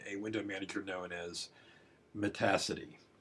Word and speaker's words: Metacity: window manager known as Metacity. I know it looks like Metacity, but it really rhymes with the word capacity.